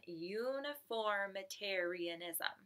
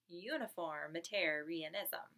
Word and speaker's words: uniformitarianism: for science we're on uniformitarianism uniformitarianism can you say that we were so excited to learn a word with 9 syllables today Wow so we had our